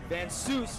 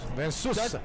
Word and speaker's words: Van Seuss: And it's that's the way you pronounce it, Van Seuss. Van Seuss. Dutch style. Like right, Ernesto. Yes, Dutch style, as Boss Rutten right. says.